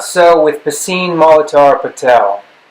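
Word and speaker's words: Piscine: that not so with pacine molotar patel some thought it was pee sing and that i was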